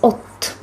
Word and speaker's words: od: Also, you might have noticed that the preposition od is pronounced as ot.